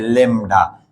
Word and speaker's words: lambda: अगर 3/3, अगर 2/2 लिखेंगे तो ऐसे लिखेंगे, देखिए, बदले लेमडा, इसको हम बोलते हैं लेमडा, LAMBDA, मगर बी साइलेंट है, लेमडा।